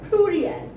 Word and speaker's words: pluriel: In French, singulars are pronounced at singulier and plurals are pronounced at pluriel.